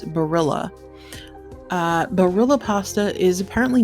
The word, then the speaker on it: Barilla: is it Barilla or Berea you'd never get that because I know the Spanish pronunciation two L's makes a y sound but uh every time I hear it advertised it's Barilla uh Barilla pasta is